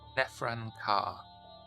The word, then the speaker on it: Nefran Kar: Do you know of any kindred by the name of Danvers or how is the other one pronounced? Nefran Kar. I say it just like that. Well, there's nothing more intimate for us than to exchange information.